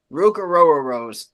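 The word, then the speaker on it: Ruke Orhorhoro: better defensive tackle, but Ruka Rose is top 5. If you're looking Okay. for a defensive tackle, and yes, that is actually how you say his name. A row your boat.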